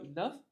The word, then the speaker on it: enough: But G-H over here at the end of the word would be pronounced as the F consonant, the fricative.